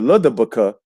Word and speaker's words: LDBC: So now what I'm saying here is that the Ludabuka, right? That's how you pronounce the LDBC.